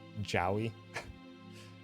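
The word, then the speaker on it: Jowy: quarter of a second you pronounce it Joey rhyming with the noise you make when you stub your too Joy I've just been going with Joey just because I don't know JY doesn't seem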